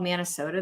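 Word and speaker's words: Manasota: man yeah we have it's called it's like manatee county and sarasota county and so it's called minnesota they combined it right yeah man it's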